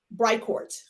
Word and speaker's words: Bricourt: name pronounced record bright core how do you pronounce it bright court bright court okay so as you guys know